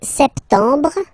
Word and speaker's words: septembre: So, septembre, septembre, septembre. Remember this E-M en septembre. You don't insist on the final septembre, septembre.